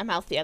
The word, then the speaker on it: Amalthea: For anyone who is interested, that druid I was playing is actually inspired by Amalthea. Is that how you're pronouncing it, dear? I don't... Yeah, Amalthea, that's how you pronounce it.